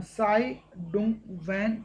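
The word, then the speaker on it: Tsai Ing-wen: क्योंकि इसमें आप आधा जो तय देख रहे हैं सर, ये आपका साइलेंट रहेगा। जो नाम बोला जाता है उनका, साई डुंग वैन के नाम से ही बोला जाता है, तसाई नहीं बोला जाता।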